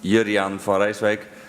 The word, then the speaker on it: Jurriaan van Rijswijk: My name is very well pronounced Juriaan van Rijswijk, and I'm an architect of applied games.